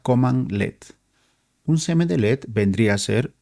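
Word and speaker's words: cmdlet: Un semd LED se pronuncia command LED.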